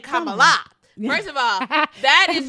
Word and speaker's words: Kamala: Yeah, she put it on like an emphasis on the lie. Kamala. And it's not right. She gave her a little Beyonce accent on the A.